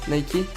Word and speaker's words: Nike: de la DS grec de la victoire se prononce nikey c'est le premier employé